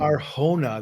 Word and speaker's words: Arjona: Is it Adria Arjona or Ariona? Adria Um, Arjona. The J is the Spanish pronunciation.